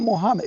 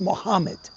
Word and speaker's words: Muhammad: What's up, Muhammad? His name was Muhammad. It's not Mohammed, it's Muhammad.